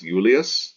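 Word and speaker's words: Iulius: would write this as Ullaeus notice that it has this I here and this I here this is the consonant I so pronounced like a y-yeah this is Val I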